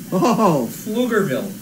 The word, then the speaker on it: Pflugerville: get yes I have it how do you pronounce the town she lives in Pflugerville Pflugerville lugerville the only reason I knew that is